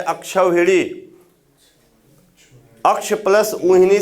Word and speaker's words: अक्षौहिणी: अक्षौहिणी होता है, नोट कर लीजिएगा।